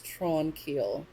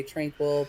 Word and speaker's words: Tranquille: you english version it but it's tron keel so when i see it on the paper i want to say tranquil but i hate that